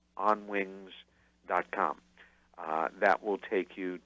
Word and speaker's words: Onwinges: for the production company which is pronounced on wings like birds on wings but it's spelled o n W ing e s on wings calm that will take